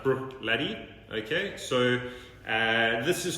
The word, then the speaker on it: Bruichladdich: name so if you break it down it's pronounced brooked Letty okay so this is called the Port Charlotte